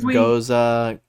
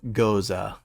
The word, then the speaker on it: Gose: to my advantage yeah someone on Reddit said it's go goza goza okay um so I